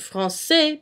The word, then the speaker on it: français: CD, which is a little squiggly thing, and it creates a softer sounding C. Say that 5 times fast. For example, in the word French, français. You pronounce it français because there is la sidelle.